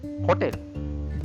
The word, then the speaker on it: hotel: the pronunciation is O can see letter h no sound in Spanish language so just forget about the letter H so sound is